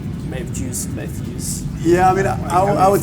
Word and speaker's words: Mefjus: Yeah, I mean, I would say the way I intended it to be said was Mefjus. Yeah. As I think I put the story out where the name originates. It's like a sort of pronunciation of the name Matthew, right? So it's Mefjus. And but it's a made-up word, so I can't blame anyone who pronounces it wrong.